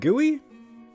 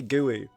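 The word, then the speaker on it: GUI: How'd you say it? I've never heard anyone say it like that. What? Gooey? I've only ever heard people say it like that. I've only ever heard people say guey.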